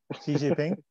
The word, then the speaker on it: Xi Jinping: Xi Jinping.